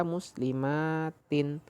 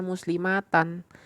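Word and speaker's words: مسلماتٍ: Maka muslimatin. Jangan terkecoh, jangan mentang-mentang mansub ya, mentang-mentang dinasab bacanya muslimatan. Enggak, jadi jamak muannats salim ketika dia itu dinasobkan tanda nasabnya menggunakan kasroh.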